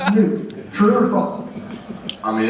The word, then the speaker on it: Nuke: It's pronounced Nuke.